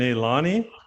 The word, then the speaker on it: Nailani: So we have, help me out here, Keana and Nailani. Yes, you got it. Good job. Perfect. Is that the right pronunciation? Yes.